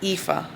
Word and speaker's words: Aoife: Okay, if you listen to the book, and according to the pronunciation, it's Aoife. I call her Iofi because that's my way of pronouncing, but whatever, how he met the girlfriend and how they got together.